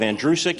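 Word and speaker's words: Andrusick: it is in reality the last name is pronounced like the boy's name andrew who is sick you run it together you have andrew sick it's that simple it looks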